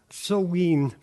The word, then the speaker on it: Samhain: Pronounced Samhain, this was a division of the year between the lighter half, summer, and the darker half, winter.